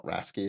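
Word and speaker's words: RACI: So agile hippie Mark from many years ago thought racy was a swear word, or rasky as some people pronounce it, because agile was all meant to be about shared accountability.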